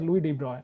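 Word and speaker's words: Louis de Broglie: this case uh so this is this is pronounced as Lou debroy all right but L debroy brole you can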